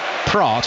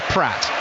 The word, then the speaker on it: Praat: And the way they wrote Dennis Praat, who I'm calling him, was actually Dennis Pratt.